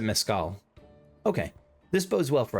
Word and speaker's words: mezcal: Is it mezcal or mezcal? I'm looking this up. Alright, I've seen a few different things. It looks like most people pronounce it mezcal.